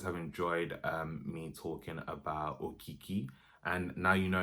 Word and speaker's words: Okiki: But look guys, I hope you guys have enjoyed me talking about Okiki. And now you know it's called Okiki and not Okiki.